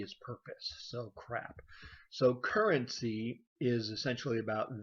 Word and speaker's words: CRAAP: And yes, you heard that right, the CRAAP test, but it's spelled C-R-A-A-P because there's two A's in this CRAAP.